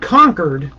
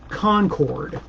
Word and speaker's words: Concord: Not Concord. That's the way they say it around here. In Concord, they say it Concord. Make sure you say it right, or they'll know you're not from around there.